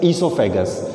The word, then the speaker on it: oesophagus: So O remains silent, it will be pronounced as esophagus.